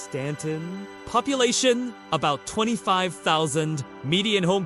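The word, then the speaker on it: Staunton: Stanton, Virginia. Pronounced Stanton.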